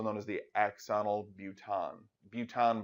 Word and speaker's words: bouton: Buton, by the way, is French for button. It's just a French pronunciation of the word button, because these things do kind of look like little buttons.